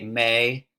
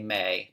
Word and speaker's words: me: But in Middle English, you'd say may, mate, mate. So if you're talking about me, you say may.